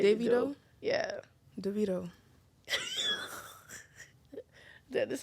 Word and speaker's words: Davido: nigel accident right devito david doe it's not david oh how do you say it i don't know but when you said it the first time it is all right david doe i think his name davido yeah devito that's how you know we were